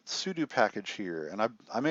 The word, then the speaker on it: sudo: I know it's voodoo, or sudo rhymes with voodoo, blah.